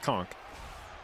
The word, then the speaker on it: conch: uh its determination that no it's pronounced conchk and I was like According to dictionary is pronounced with the ch and not the k.